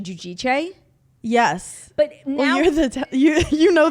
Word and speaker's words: Giudice: Yeah, I mean, forever it was Teresa Giudice. And then like years and years later, it came out that like we were all saying it wrong. It's actually Giudice.